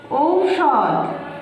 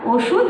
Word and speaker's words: ঔষধ: আর কিন্তু আমরা এটাকে কথা বলার মানে সুবিধা করে নেওয়ার জন্য এটাকে আমরা ওষুধ বলে থাকি।